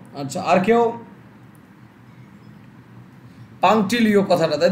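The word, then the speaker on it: punctilio: I don't know but Tushar maybe right, একদমই অশ্বিনী, অশ্বিনী একদমই পাংটিলিও কথাটা হবে, ওকে? পাংটিলিও, তুষার ভালো অ্যান্সার দেয়, স্যার টি পারলাম এইটা পালো না, আচ্ছা আচ্ছা এটা হবে পাংটিলিও কথাটা, PUNC এর উচ্চারণটা হয় না, TILIO হবে, পাংটিলিও কথাটা হবে, ওকে?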